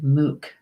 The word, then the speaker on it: Muc: in Gaelic it's a Mook spelled mu C but it's pronounced Mook with your babies and